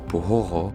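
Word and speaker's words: Buxoro: The history of Bukara or Buhoro as it's pronounced in Uspek stretches back many millennia, but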